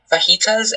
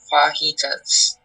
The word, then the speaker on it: fajitas: There is an alternate pronunciation, so we have fajitas and fajitas.